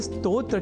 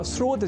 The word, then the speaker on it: स्तोत्र: स्तोत्र कहा जाता है यहां हमने स्तोत्र के उच्चारण और लेखन पर दिया है विशेष अवधान अर्थात स्तोत्र में अर्ध सकार के बाद त और ओ इन दो अक्षरों का संयोग है और इसके बाद त्र इस संयुक्त अक्षर का यदि हम यह ध्यान में रख ले तो कभी भी स्तोत्र के स्थान पर स्तोत्र या स्रोत जैसे उच्चारण या लेखन हमारे प्रयोग में ही नहीं रह सकेंगे अर्थात हमें शब्द के